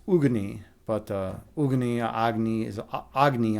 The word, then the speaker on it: Agni: Agny. Aggony. James. I mean, and by the way, that is the correct pronunciation in Hindu mythology. Uh, agny or actually it's ugy, but uh, ugy is agny also works.